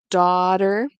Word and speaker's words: daughter: you'll notice that um daughter I pronounce it with a d this is something you'll see very very like you'll hear it a lot in the United States North America so I'm pronouncing it like daughter daughter daughter daughter okay so I have an